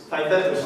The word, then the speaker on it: Theaetetus: It's just like, and if you look at Plato's Parmenides or I don't know how to pronounce it, Theaetetus. Sorry? Theaetetus, thank you.